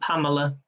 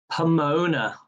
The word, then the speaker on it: Pomona: so many saying pamela it's not pamela the correct answer was pomona pomona i'm going to spell it out for his p-o-m-o-n-a so the answer was pomona okay question number 10.